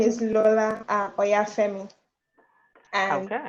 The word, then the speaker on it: Oyafemi: My name is Lola Oya Femi and Okay.